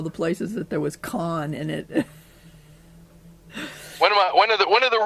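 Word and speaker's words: Khan: places that there was con in it. One of the really big characters in Star Trek, even though it's spelled different, it sounds the same.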